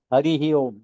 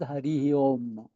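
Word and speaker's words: Hariḥ Om: And then how you pronounce now that? Not as Hari Om. You say like Hari.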